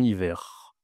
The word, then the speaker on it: hiver: Alors, ici, je dois prononcer le R, doit dire un hiver.